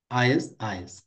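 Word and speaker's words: IS-IS: ইন্টারমিডিং system ইজ an older word for router pronounced আইএস আইএস এভাবে pronounce করা হয় এটাকে পপুলার ইন সার্ভিস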